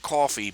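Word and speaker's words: Ko-fi: if I'm pronouncing Carrel I think it's supposed to be pronounced like coffee but everybody would spell it wrong there if I pronounced it correctly okay coffee KO - fi dot-com /rh jr.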